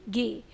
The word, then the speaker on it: गे: Short में हम लोग बोलेंगे इसको PBTD चे जे के गे। CH को हमेशा चे से और G को हमेशा गे से प्रोनाउंस करना है।